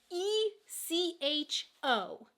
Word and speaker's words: Echo: this is even a small difference, the word ECHO. It means the same thing in German and in English, but in English we pronounce it echo, and in German it's Echo.